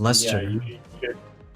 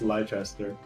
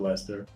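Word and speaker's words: Leicester: Pronounce it Lester. No, it's Lchester. I like Lester though. You know, I have a buddy named Lester. It is pronounced Lester.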